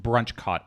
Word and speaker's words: Brunchcot: I believe it's pronounced BrunchCot, Panda.